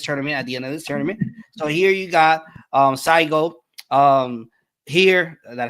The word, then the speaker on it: Saigo: At the end of this tournament, so here you got Saigo. Here, did I said it right? I think Saigo. Yes. Yeah, Saigo.